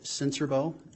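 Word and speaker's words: Sincerbeaux: spell your last name my name is sensorbo and my last name is spelled s-i-n-c-e-r-b-e-a-u-x sir how are you employed um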